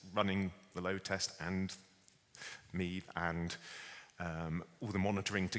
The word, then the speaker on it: MaEVe: We called it MaEVe as a nod to Steve, essentially. It was something that rhymed with Steve, although it turns out that my Irish pronunciation was wrong and it's actually MaEVe. But the intent was that it was there to rhyme with Steve.